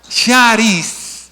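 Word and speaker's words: χάρις: No, la X suena sh, suena como cri, así que cris con X. ¿Cómo diría ahí? Ahí va, ¿cómo va? No, charis, la ro, el charis, de donde viene carisma, de donde viene carismático,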